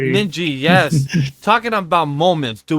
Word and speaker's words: Ninji: watch uh Peach be up a bunch of ninja. I said it right this time. Yay. Ninji.